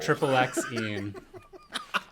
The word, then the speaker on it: MaXXXine: Also, I agree with Eddie that you pronounce each X separately and don't use the triple in there when saying MaXXXine.